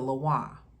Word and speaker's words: lwa: you see the word laah and you might hear people say the laa that's not the cor correct pronunciation they're getting that from the spelling so you might see